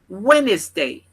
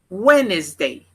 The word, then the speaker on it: Wednesday: tuesday tuesday tuesday quarta-feira wednesday wednesday wednesday observa que esse D não é mencionado tá ele é mudo aí ele não não tem som quinta-feira thursday thursday thursday